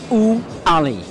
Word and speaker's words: Ouali: It's Ouali.